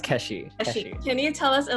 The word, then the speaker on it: Keshi: pronounce your name correctly it's pronounced Keshe can you tell us